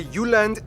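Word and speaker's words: Jylland: so here we go denmark is made of the uland not jutland peninsula that connects to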